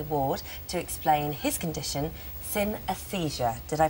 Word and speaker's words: synesthesia: dr dr jamie ward to explain his condition sin aesthesia did i pronounce that question that's correct synesthesia synesthesia okay so we've never heard of this